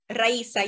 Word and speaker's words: Raisa: Your name pronunciation, Raisa? Raisa, yes, you are right.